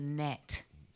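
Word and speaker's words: gnat: It's always a net. Yeah. That's spelled with a G, y'all. G-N-A-T. Net.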